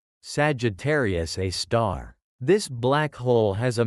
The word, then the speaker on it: Sagittarius A*: At the heart of our own Milky Way galaxy lies such an object, a supermassive black hole named Sagittarius A*, pronounced Sagittarius A star.